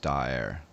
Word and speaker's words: Daher: As far as I can tell, daher is pronounced daher.